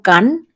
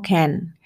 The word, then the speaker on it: can: es el verbo poder que se pronuncia como Ken no can sino como Ken Y es el verbo